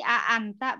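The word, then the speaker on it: أأنت: Talibun jadi Itu hamzahnya ada 2 berarti a'anta bacanya. Ya, a'anta ya.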